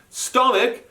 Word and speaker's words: stomach: become sandwiches add e-s stomach becomes stomachs just add an s that one's one of the exceptions because the ch makes a k sound tree becomes trees just